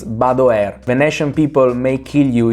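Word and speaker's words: Badoer: look about the air no it's not bador it's not bad however it's badware Venetian people may kill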